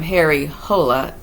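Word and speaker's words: Harry Hole: agree how to pronounce, it's Harry Hula or Hari Holy or something. I've seen Jo Nesbo himself call him Harry Hola, but I've heard other people say Hari Huli.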